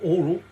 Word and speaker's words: HORL: The HORL, or oral, apparently, doesn't matter how you pronounce it, but it's HORL or oral 2.